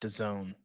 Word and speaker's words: DAZN: That sound was 20% of our listenership realizing that it's pronounced DAZN and not.